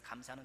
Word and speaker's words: 감사: 있겠습니다만 우리가 흔히 쓰는 감사는 두가지 에요 감사합니다 이렇게 감사가 있고요 또 국정감사 할 때 감사할 치나요 직업 그래서 그건 조사한다는 빛이 잖아요 그래서 우리 감사합니다 이렇게 감사는 길게 발음하는 감사해요 그래서 감사 이렇게